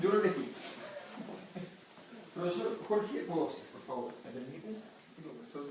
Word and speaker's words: Mpodozis: Si usted quiere buscarlo en internet, no lo escriba con P, porque se pronuncia Podosis, pero empieza con M.